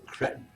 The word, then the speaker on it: cretin: Queen says both pronunciations are okay, but personally pronounce it with a soft E. So cretin.